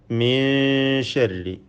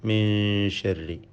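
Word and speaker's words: من شر: ഇപ്രകാരം അടുത്ത വചനങ്ങളിലെല്ലാം മലിക്കിന്നാസ്, ഇലാഹിന്നാസ്, മിൻ ശർരി, ഇതിൽ സാക്കിനായ നൂനിനെ ഇഖ്ഫ ഹഖീഖി നൽകി അവ്യക്തമാക്കി മണിക്കേണ്ടതാണ്. മണിച്ചുകൊണ്ട് ഉച്ചരിക്കണം. മിൻ ശർരി.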